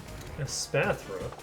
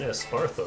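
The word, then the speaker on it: Espathra: A Spathra. Which I only just realized isn't Espartha. I've been saying it wrong this whole time.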